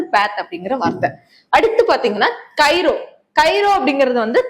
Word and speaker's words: chiro: அடுத்து பாத்தீங்கன்னா கைரோ. கைரோ அப்படிங்கிறது கை. சரியா? கை, கை, அது கைரோ அப்படின்னு நீங்க ப்ரொனவுன்ஸ் பண்ணீங்க அப்படின்னா அது கை அப்படிங்கிற இது வருது.